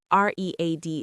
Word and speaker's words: read: R E A D is past, too, but we pronounce it like red.